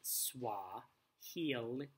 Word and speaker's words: Swahili: friends jumbo is a Swahili word for hello so what healy is a language that's spoken in many parts of eastern and southeastern Africa it's pronounced Swahili II you could teach